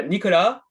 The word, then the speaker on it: Nicholas: to to guess uh how to say your surname so how do you say you're saying uh nicola yeah it's a french name so and and you